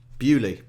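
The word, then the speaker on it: Beaulieu: in the US or beulie in Hampshire England bewley is a beautiful little village by me with a motor museum they have all the old school murders as well uh a beautiful place bewley yep but please you can tell by the ieu that it's clearly not an English word but I think that's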